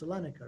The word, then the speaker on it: Salonika: Salonika, right? Salonika. Thank you. Okay. Okay. So in there, he does more scandalous things. And one of these scandalous things that he did in Salonika, you're not going to believe this one, is